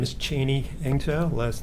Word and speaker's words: Eng-Tow: My name is Cheney Engtaw. Last name is spelled.